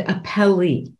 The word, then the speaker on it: appellee: common word appellant and a Pele and um with the accent on the last syllable there oh I had